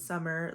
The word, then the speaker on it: Samar: pronounce my name but it is summer like this season it's just spelled like Samar today I'm going to